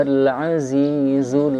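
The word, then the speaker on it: العزيز: Nah, amalau wa huwa al-azizul ghafur. Al-azizu. Dalam pengucapan zai pastikan z, kita ada huruf z. Oke, jangan sampai bilang zebra, kuda zebra, tidak. Z, zebra, zai, zazi, zu.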